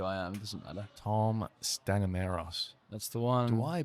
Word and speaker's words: Tom Stanimeros: Tom Stanimeros. That's the one. Do I pronounce that right?